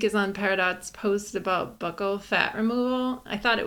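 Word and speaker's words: buccal: of the week is on peridot's post about Buckle fat removal I thought it was pronounced Buco but it's Buckle I thought it was bugle no I I watched a few videos on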